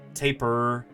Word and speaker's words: tapir: Doesn't actually matter. You're going to hear lots of different pronunciations. You'll hear tapir. That's how I grew up saying it. You'll hear tapir, tapir, taper.